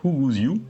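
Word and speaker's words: 虎骨酒: Alors en VO, ça se prononce Huguziu.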